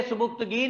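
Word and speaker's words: Sabuktigin: जी, बोलेंगे सुबुक्तगीन, लिखेंगे सुबिक्तिगिन, याद रख लें स्पेलिंग के लिए इसके, सुबिक्तिगिन।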